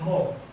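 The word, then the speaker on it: magh: What happened basically was this, that the word maw came to be pronounced in Irish when you had two words as mo. There are quite a few examples of that, M-A-G-H, a plain came to be pronounced as mo.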